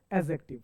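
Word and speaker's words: adjective: बहुत सारे बच्चे सर एडजेक्टिव ना, एडजेक्टिव नहीं, इसे हम लोग बोलेंगे एडजेक्टिव, यानी कि सर डी को ना, डी को साइलेंट करना है, डी को बोलना नहीं है। कभी भी सेंटेंस में या कोई वर्ड में सर ए और जे के बीच अगर डी आए तो डी हमेशा साइलेंट हो जाता है।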